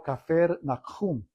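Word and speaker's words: כפר נחום: Capernaum se pronuncia en hebreo cafer nahjum y es donde Jesús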